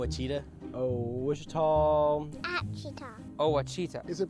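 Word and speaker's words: Ouachita: uh I've heard people say o oh a Oita is it pronounced Oita searching for was Baptist University back in Texas everybody pronounces it witch but really it's wash wash wash how would you pronounce it wash wash it's wash Baptist University get it right it's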